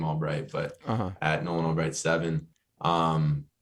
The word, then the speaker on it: Albrecht: me on Instagram at Albrecht 7 is how it's spelled I pronounced my last name Albright but at nolanobright seven